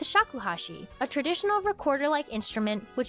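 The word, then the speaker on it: shakuhachi: He said 108 in Japanese is read hiakuashi. It rhymes with shakuhashi, a traditional recorder-like instrument, which is also slang for Draw your own conclusion.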